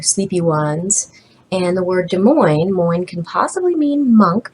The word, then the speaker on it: Des Moines: say Ian is in Des Moines with a coin or I've got a coin in Des Moines because it Rhymes it'll help you remember